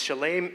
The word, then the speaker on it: Shalem: I've been going to Shalem for many, many years, and I've been mispronouncing it the whole time. So thank you for correcting me, Tom. It's Shalem Mental Health Network, and because of